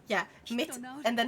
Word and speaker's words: mitt: Mina nem är over. Det är min alias. I think that's right, but with some mispronunciations.